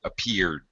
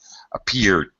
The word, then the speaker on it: appeared: Appeared. Mentioned. Especially after an N or an R, you're definitely going to hear a slightly reduced pronunciation of that D.